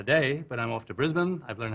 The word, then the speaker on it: Brisbane: here for the day but I'm off to Brisbane I've learned how to say it I used